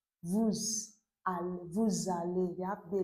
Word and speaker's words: vous allez: Okay, that's why I'm pronouncing it vous aller. That S consonant sound is pronounced as z. Vous allez.